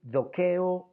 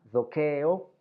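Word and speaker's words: δοκέω: El verbo doko se puede decir dokeo o doko según el dialecto. Los jonios lo pronunciaban dokeo, mientras que los áticos, por ejemplo, lo pronunciaban doko.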